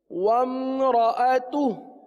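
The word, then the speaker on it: وَامْرَأَتُهُ: وامرأتہ. ہاں بعض اس کو غلط پڑھتے ہیں، وامرأتہ پڑھ لیتے ہیں، حمزہ کو حذف کر دیتے ہیں، وامرأتہ پڑھ دیتے ہیں، حمزہ کو پڑھتے نہیں ہیں.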